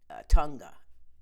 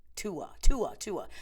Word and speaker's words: Tua: doing well, their quarterback, Tunga. Tua. I always pronounce his name wrong.